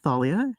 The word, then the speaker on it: Thalia: My name is Thalia. It's like Dahlia, but pronounced with a TH.